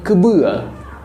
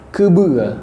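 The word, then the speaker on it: keubeu: Kemudian untuk kerbau ya itu dalam bahasa Aceh disebut dengan kebua. Kebua ya. Kerbau bahasa Aceh adalah kebua. Itu ejaannya K E U B E U.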